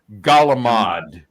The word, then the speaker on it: calamari: Calamar camar Calamar but you say the C you know but for some reason they say a g galamad galamad like GA l